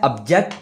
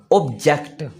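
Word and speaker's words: object: अब उसके बाद हमारे पास रह गया है 28 पे, ये है ऑब्जेक्ट और ऑब्जेक्ट। ये इनकी प्रोनाउंसिएशन ही चेंज है।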